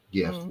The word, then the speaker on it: GIF: a a waynesworld uh GIF GIF you can pronounce it either way and it's like excellent